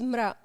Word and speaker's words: Mra: I want to talk more about your latest album, Mara. Did I pronounce it right, by the way? Mara? Well, the Tunisian way is mra.